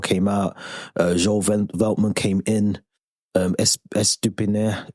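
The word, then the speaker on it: Estupiñán: Estupinan, I can never say his name, man. Estupinan. Estupinian. That's the one.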